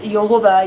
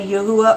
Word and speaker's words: Jehovah: It is the Yod-He Vav-He, and I pronounce it as Jehovah. You may say Yahuwah or Yahweh, but his name, you